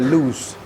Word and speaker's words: Luce: review mendetail nih Allegra loose ini lu C bacanya loose Ya seperti kita baca Bruce BR u c e Bruce and loose nah loose itu artinya